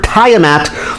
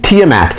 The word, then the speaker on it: Tiamat: get the name confused people call this character tie a mat the correct pronunciation is tiamat and i'm really really really you can tell